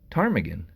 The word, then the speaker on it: ptarmigan: And ptarmigan, spelled with a P, believe it or not.